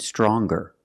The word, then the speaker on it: stronger: Now what happens when we change young and strong to younger and stronger?